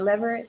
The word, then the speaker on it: Leverette: Is it Leverette?